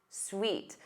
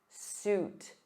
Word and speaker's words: suit: He wore a navy blue suit. So repeat after me. oot, ooh, oot, suit, suit.